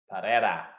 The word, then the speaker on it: Pereira: I'm getting comments on the pronunciation. That is how you say the name. Alex Pereira. Pereira.